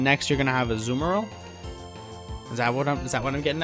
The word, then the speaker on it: Azumarill: Not technically, I think it's Azumarill officially. But I've also heard a lot of people say Azumarill, and I don't know that that's necessarily wrong. I think it's all just how you prefer to pronounce it. I think it's all fair game.